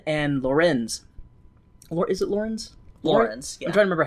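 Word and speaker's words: Laurens: Lorenz, yeah. I'm trying to remember how to pronounce it.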